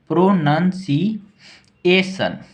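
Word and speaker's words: pronunciation: लोग ए लिख देंगे ए टी आई ओ एन कहीं भी अगर लास्ट में हो तो उसको सन पढ़ते हैं क्या पढ़ते हैं सन तो क्या हम लोगों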